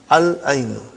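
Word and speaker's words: العين: We pronounce lam. Al-ainu.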